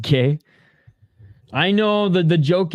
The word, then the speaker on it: gi: It's pronounced gay.